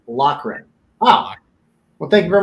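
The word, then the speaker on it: Loughran: he goes for Lucky's last name is pronounced locren ah well thank you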